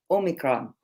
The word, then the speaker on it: omicron: asked my great colleague how to say it omicron that's right right now omicron is written as